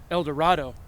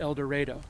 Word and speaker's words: El Dorado: means golden land and certainly in some parts of the united states they pronounce it el dorado but here we call it el dorado so tonight join us